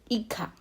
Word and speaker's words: hija: La hija. In Spanish, JA is pronounced as ka, meaning hijo. Hija. Remember, in the previous class, you must have learned that H is always silent.